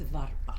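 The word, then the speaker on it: vārpa: necessarily pronounce and um Agnes who was laan says it's varpa Vara okay so I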